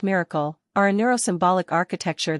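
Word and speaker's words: MRKL: 1 modular reasoning knowledge and language pronounced miracle are a neuros symbolic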